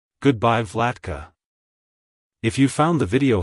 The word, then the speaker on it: Vlatka: great ruler or peaceful ruler it's pronounced as vlatka vlatka vlatka to pronounce it correctly emphasize the vla sound and the C at the end the is pronounced as in cat like Hello vlatka Goodbye vlatka if you found the video helpful hit the